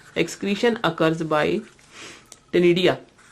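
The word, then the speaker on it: ctenidia: Excretion occurs by टेनिडिया। टेनिडिया के spelling C से start होंगे, बट सी is silent hair.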